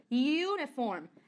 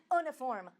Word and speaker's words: uniform: Tem algumas palavras igual essa, uniform. Você pronuncia ele igual com o youzinho. University. Também pronuncia ele com o youzinho. Não é uniform, university.